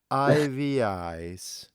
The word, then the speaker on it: Eyeveyes: called, I'm gonna make a mess with it, Eyeveyes.